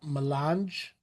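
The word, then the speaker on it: mélange: Is that pronounced? Milange.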